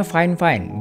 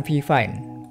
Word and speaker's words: Fifine: perhatiin logo brand-nya Yap brand ini dibacanya fine-fine bukan V5 begitu kata orang marketingnya